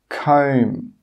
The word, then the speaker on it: comb: The first rule is that if a B comes after an M at the end of a word, it's normally not pronounced. Some common examples are climb, crumb, tomb, bomb, comb. You can see here that in all of these words, we do not pronounce that final B sound.